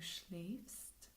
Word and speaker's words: schläfst: Again, like laufen, they just add an umlaut to the A's and the do and the AZS form, which changes their pronunciation. So, schlafen, to sleep. Ich schlafe, du schläfst, schläft, wir schlafen, ihr schlaft, sie schlafen.